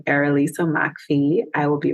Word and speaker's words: Errolisa McPhee: um so if you look up my name erisa Mai I will be right there that's a peculiar name so I'll spell it it's spelled e r r o l